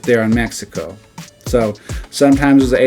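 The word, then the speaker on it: México: We have Mexico. That's how you say it in English, but in Spanish it's Mexico. So as you see right there, they put an sound right there on Mexico.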